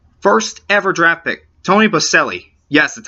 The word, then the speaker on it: Boselli: Jacksonville's first ever draft pick, Tony Boselli.